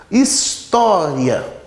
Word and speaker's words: história: História. Então, história. O is e o ian são sílabas átonas. O tó é uma sílaba tônica.